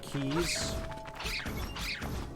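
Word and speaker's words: Keese: left top kind of keys these are called keys if you pronounce it keys but it's spelled k-e-e-s-e so by the way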